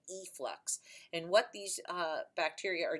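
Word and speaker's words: efflux: how you spell it not in flux but e flux and what these bacteria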